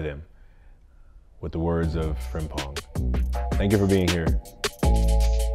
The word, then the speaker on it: Frimpong: Is it Frimpong? Yeah, it's Frimpong.